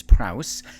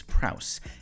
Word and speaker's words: Prowse: get into a little bit more on Miz Prrowse. Uh, by the way, for years I think I would I would pronounce her name Prrow. And I now realize I was saying it wrong. It is Prrowse.